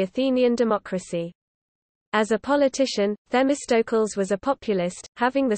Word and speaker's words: Θεμιστοκλῆς: Themistocles, Greek, Themistocles, Greek pronunciation, Themistocles, Themistocles, glory of the law, c.